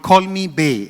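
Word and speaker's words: Call Me Bae: Ananya, I believe one of your projects that's coming up is called Call Me Bay. Am I pronouncing it right? Yes.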